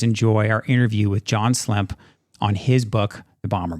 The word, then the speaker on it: Slemp: We're here with John Slemp, if I'm pronouncing that correctly. Slemp. Slemp.